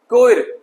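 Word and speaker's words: choir: चलिए H से silent word देखते हैं। कोयर, गायक मंडली, गायकों के समूह को कोयर कहा जाता है।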